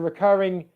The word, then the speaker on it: recurring: So it's a recurring subscription, for example. Recurring. Can you hear where the stressed syllable is? Recurring. I hope you can hear recurring. It's on the second syllable.